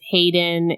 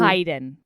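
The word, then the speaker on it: Haeden: one right and she recommended this one with Hayden and Josie heyen I found out we pronounced it wrong it's heyen well well that's that's I think it's Hayden still it's spelled with an A so whatever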